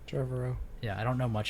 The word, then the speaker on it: Trevorrow: Colin Trevorrow.